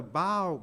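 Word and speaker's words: bough: by baby when the bow breaks that's B oh you g h but it's not pronounced buff it's pronounced bow so even though a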